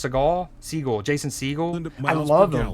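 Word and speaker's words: Segel: How do you pronounce Segal? Siegel.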